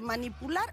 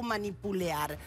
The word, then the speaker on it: manipular: Muchas veces vos escuchás, ¿cómo se dice? ¿Manipular o manipulear? Uh-huh. Lo asimilan con los verbos como pelear y no es con un verbo como pelear, manipular va sin esa E que le agregamos en el medio.